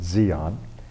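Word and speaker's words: Di An: now base camp with Xeon it's spelled d-i-a-n but in Vietnamese it's pronounced Zeon which was about 50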